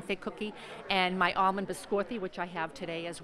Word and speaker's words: biscotti: That's my almond That's biscotti. the almond. Which is that my. the way you pronounce it? I always used to say biscotti.